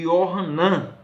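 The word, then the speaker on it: יוחנן: João, como nós pronunciamos, em Jerusalém, ou no hebraico, é chamado de Yohanan.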